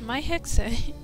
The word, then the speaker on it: Mai Hexe: Yeah, that's how my name is pronounced, my Hexe.